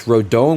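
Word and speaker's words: Rodón: SP says it's Rodon with Spanish pronunciation, and Rodon in Americanized language. I do have some Spanish in my my background, so Rodon has an accent of the second syllable. Yes, that is true, actually. He does have the accent over the O, which I feel like kind of makes it Rodon.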